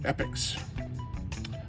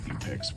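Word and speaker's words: Epyx: okay California games by epics I hope I'm pronouncing that right when I was young I used to say epex which seems really dumb I'm pretty sure it's epic I'm sure somebody will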